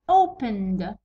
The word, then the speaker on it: opened: مثلا الكلمه الاولى opened، opened، opened، ننطقو دو الوغ نحطوها هنا opened.